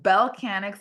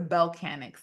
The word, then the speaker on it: Bellechanics: So Bellcanix is spelled B as in boy, ELLE. So it's the word Bell. And then Canix, right? Instead of mechanic with a me, it's a Bellcanix. So it's BELLECHANICS.